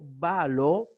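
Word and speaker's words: βάλλω: O sea, las palabras que tienen consonantes repetidas como balo, aunque usted la pronuncie como balo, debe recordar que a la hora de ir al diccionario debe ser doble lambda.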